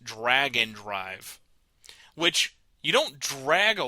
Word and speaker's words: Drag x Drive: Nintendo the game is spelled drag X drive it is pronounced Dragon Drive which you don't drag